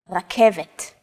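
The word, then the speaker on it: רכבת: It's only the R that's a little different. Focus on this first letter. It's often written as an R, but don't be fooled. This letter is pronounced differently than an English R. It's pronounced at the back of the throat instead of forward in the mouth.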